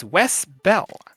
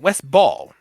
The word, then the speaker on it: Ball: Chiefly because also the director of this film is Wes Bell. Wes Ball. Wes Bell. Wes Ball. There we go. I'm saying that name wrong.